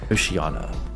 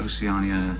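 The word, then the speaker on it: Oceania: words from 1984 correctly Oceana and oceia Oceana has oana oia oceia not Oceana I don't know how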